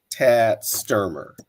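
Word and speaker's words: Tad Stoermer: I do believe I'm pronouncing his name correctly. That he pronounces it Tad Sturmer.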